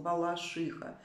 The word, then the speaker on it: Балашиха: такого-то в нём закрепили норму приношения названия города с ударением на третий слог Балашиха ударение нужно ставить на Суфи иха Балашиха кольчиха Плющиха и вот это я